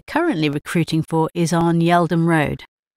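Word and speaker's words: Yeldham: The branch we're currently recruiting for is on Yeldom Road. I'm not familiar with that street. Could you please spell it for me?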